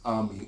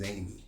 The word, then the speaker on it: Amy: it from the daughter, whose name is Ami, or the American pronunciation of her name is Amy, right?